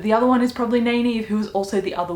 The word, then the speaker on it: Nynaeve: Nynaeve, I think is how you say her name, the wisdom from the Two Rivers town that they grew up in.